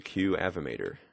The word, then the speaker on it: Qavimator: to be using we're going to be using QF mater which is spelled like that q avi M ato R